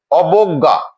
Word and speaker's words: অবজ্ঞা: আমরা দেখছি বয়ের সাথে যে অকারটি ছিল সেই অকারটি বো, অবজ্ঞা, অবজ্ঞা রূপে উচ্চারিত হয়েছে।